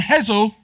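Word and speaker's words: Hessle: She's the candidate, and I was told the pronunciation, Hull West and Hessel, Michelle Dewberry.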